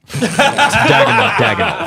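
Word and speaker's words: Daigneault: Diagonal. Thank you. Yeah, I've always mispronounced it.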